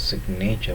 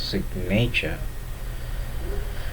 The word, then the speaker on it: signature: Take for an example, in the word sign, the G is not pronounced, but in the word signature, the G makes a sound.